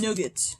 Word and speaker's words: nougat: different things like no there's nougat and there's nugget nugget is something entirely different that's why it's an entirely different word but i also know